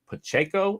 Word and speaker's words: Pacheco: I think it's Isaiah Pacheco.